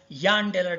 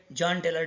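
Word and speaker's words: Jahn–Teller: Our professor used to pronounce it as Jahn-Teller distortion. He used to say that this J should be pronounced as year. Okay, anyway, we will call it as a Jahn-Taylor distortion.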